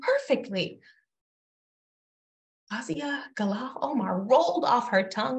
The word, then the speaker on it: Fawzia Galaal Omar: Fazia Galal Omar. Perfectly. Oh, shit. She pronounced my big African name perfectly. Fazia Galal Omar rolled off her tongue like it was chai latte for Emily.